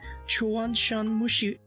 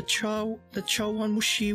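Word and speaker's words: chawanmushi: I think I'll try the Chuanshan Mushi. Wait, how do you say that? The Chawan Mushi with the shrimp.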